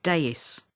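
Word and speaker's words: DAAIS: pronounced dax or a danger area activity information service pronounced deus if no reply is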